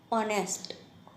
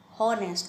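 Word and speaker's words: honest: ऑनेस्ट, हॉनेस्ट नहीं पढ़ सकते, ओके। स्पेलिंग एच से स्टार्ट होती है, एच ओ एन ई एस टी, ऑनेस्ट, right. तो एच क्या है? साइलेंट है।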